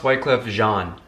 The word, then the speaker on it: Wyclef Jean: It's pronounced Wyclef Jean.